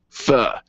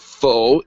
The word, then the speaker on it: pho: not faux. It's pho.